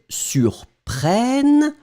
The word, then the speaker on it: surprennent: So it does mean that it will impact the pronunciation of the E that's coming right before, and I will put that, allez, let's be crazy, in yellow. Boom! So it means that this will in fact be pronounced like eh.